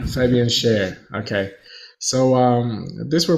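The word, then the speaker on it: Fabian Schär: his name but uh I believe it's pronounced Fabian Sher it's like the sing yeah Fabian share okay so um these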